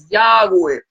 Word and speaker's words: Yahweh: vocales, simplemente las consonantes, y ellos sabían que la pronunciación del nombre era Yahweh.